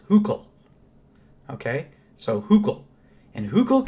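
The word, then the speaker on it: Hückel: his name is this which it turns out in German is pronounced hook okay so hook and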